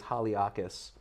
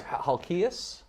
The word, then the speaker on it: Halkias: I want to say it's Haliakis. So we'll tag it. I'm sorry, Halkias.